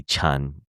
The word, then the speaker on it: Chun: And if you say, so our last name is like in Cantonese would be Chun, like kind of like Chun, but it's spelled Chen, Chan.